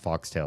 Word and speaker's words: Foxtail: A faux tail. Supposed to be pronounced foxtail.